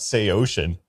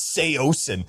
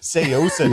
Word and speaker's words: Saosin: So in my video I'm like we're checking out Sey Ocean and all my comments were like it's Seosen Seosen.